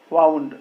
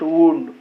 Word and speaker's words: wound: country and my people wound here the pronunciation is wound not wound wound all of us will